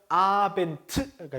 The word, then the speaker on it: Abend: 끝에 특히나 철자의 Abend는 A, B, E, N, D로 끝난다는 거. 트 소리가 나지만 D로 끝나죠. Abend가 되니까 그렇죠?